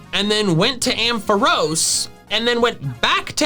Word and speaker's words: Ampharos: Regardless of the anime though, Ampharos is a much more logical pronunciation, since its name comes from Amp and Pharos, the Greek word for lighthouse.